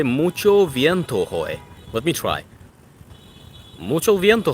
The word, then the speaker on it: hoy: Hey, mucho viento hoy. You don't pronounce the... Oh, sorry. I sometimes forget that. I know that it's just silent, just like my name.